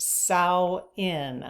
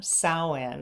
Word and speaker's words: Samhain: Samhain. So SOW-IN would be like the pronunciation. So Samhain.